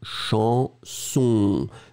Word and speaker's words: chanson: And the last one, chanson. Chanson, no N at all, everything in the nose.